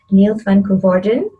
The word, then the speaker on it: Niels van Koevorden: name is shabnam khan and i'm talking to niels van gorden i'm saying that right right the pronunciation yes that's correct okay perfect um yeah